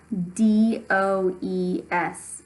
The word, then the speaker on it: does: practice it this week the word is does D OE s that is pronounced does however and here's a just aside